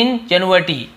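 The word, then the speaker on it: ingenuity: मेरे, इंजन्युइटी, ठीक है, इसे हम क्या बोलते हैं, इंजन्युइटी, इंजन्युइटी, अजीब टाइप प्रोनाउंसिएशन, इंजन्युइटी ऐसे बोलते हैं।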